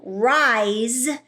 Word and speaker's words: rise: or a voiced consonant, it represents the Z sound. So when mapping rise, you'll map the R